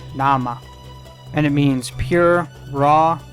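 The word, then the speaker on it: 生: When it's by itself, it's pronounced nama, and it means pure, raw, crude, or undiluted.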